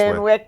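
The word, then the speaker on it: Van Wyck: Is it How do you pronounce the van? Finish it. The Van Wet Expressway. The Van Wick.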